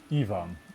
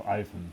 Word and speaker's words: Ivan: got a note that we should pronounce it evan evan okay instead of ivan we'll do we'll do